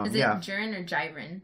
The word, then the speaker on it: Jiren: Jiren or Jiren? I think it's Jiren because in Japanese pronunciation, they keep calling him Jiren.